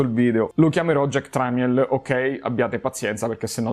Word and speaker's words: Tramiel: che fu portato Jack tramiel la pronuncia esatta sarebbe trimal però siccome non voglio diventa scemo con la muta eccetera per tutto il video lo chiamerò Jack tramiel Ok Abbiate pazienza perché